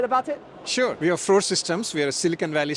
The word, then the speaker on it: Frore Systems: I'm here with Seishu from Frore, how do you pronounce it? Frore Systems. Frore Systems.